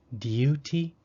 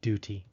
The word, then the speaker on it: duty: ooh sound d t some British speakers might try to make a u sound after a d saying Duty for me that would take a bit of practice so I just say Duty next let's look at